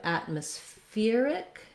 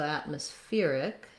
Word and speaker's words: atmospheric: change to atmospheric atmospheric the syllable stress changes and we have stress on the fear syllable secondary stress on at and then we add our ick syllable so atmospheric we we go short short long short atmospheric still the same pronunciation